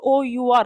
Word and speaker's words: hour: come in an hour however we will not spell it as h o u r hover it is our H become silent so for all the